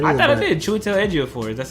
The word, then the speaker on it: Chiwetel Ejiofor: Chiwetel Ejiofor.